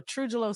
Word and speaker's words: TruJuLo: when I tell you it might help with the pronunciation A little bit so truelo stands for truth justice and love so that J